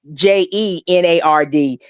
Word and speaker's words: Jannard: to how they say, because Jannard's name is not spelled with a G, it's spelled with a J, so it's Jennard.